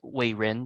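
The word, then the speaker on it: Wejen: Wei-Jin is this first name. In Chinese, we pronounce it Wei-Rin, but it's romanized as Wei-Jin.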